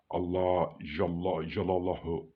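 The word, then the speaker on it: الله جل جلاله: That is the name of Allah, which says it's pronounced Allah Jalla Jalalahu Allahu Akbar, or it says Allah Jalla Jalalahu.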